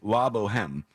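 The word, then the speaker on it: La Bohème: And he says, by the way, it's pronounced La Boheme.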